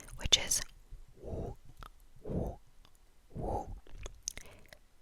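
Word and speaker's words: 五: 5, 5, which is woo, woo, woo. the sound woo, woo, woo, but it's a bit more round in the mouth. So woo, woo. And you spell it W-U.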